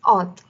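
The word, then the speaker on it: août: difference so uh and specifically for august it's a lot different it's odd okay moving on uh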